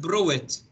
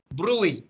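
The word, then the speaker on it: bruit: وبالسماعة لما استخدم البل بدي ادور على مصطلح او على اشي اسمها بروي، تنكتب بروت بروي، لكن كيف تنلفظ؟ بروي، التي سايلنت لا تلفظ.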